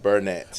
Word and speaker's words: Burnett: Burnett.